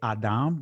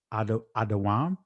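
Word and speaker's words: אָדֹם: Some would say adam, but we're going to do it from an ancient perspective, adawam. "The chiefest among 10,000."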